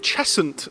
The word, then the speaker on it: Cheshunt: We're here in Cheshunt today.